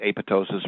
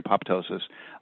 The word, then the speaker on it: apoptosis: And the normal cell death, depending on who's pronouncing it, apoptosis or apoptosis, no longer applies to it.